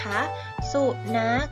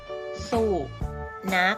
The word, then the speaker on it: สุนัข: สูบ นัก นะ คะ สุนัข นี้ ขอ ไข่ เป็น ตัว สะกด นะ อ่าน ว่า สู่ นัก นะ คะ สุนัข อยู่ ใน มาตรา แม่ กก เนาะ เพราะ ว่า มี ขอ ไข่ เป็น ตัว สะกด ซึ่ง ออก เสียง ตัว สะกด เหมือน กับ ก ไก่ ค่า ต่อ ไป แต่